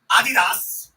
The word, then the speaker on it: Adidas: and remind you again Adidas the German pronunciation Adidas didn't pull his contract